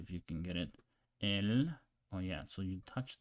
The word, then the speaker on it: el: So let's pronounce it and see if you can get it. El.